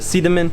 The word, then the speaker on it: Sidemen: it's actually spelled Seidman but the locals here pronounce it a see them in and this is a place where people will